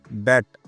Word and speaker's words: debt: हां जी दोस्तों, डेप्ट ना कि डेप्ट। जैसे इसमें बी साइलेंट होता है, वैसे यह म्यूच्यूल फंड भी साइलेंट ही होते हैं और धीरे-धीरे आगे ग्रो करते रहते हैं।